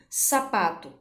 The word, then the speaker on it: sapato: Exemplo, sapato. O pá, quando você pronuncia ou chama essa palavra, o pá é a sílaba mais forte, de maior intensidade presente nesta palavra.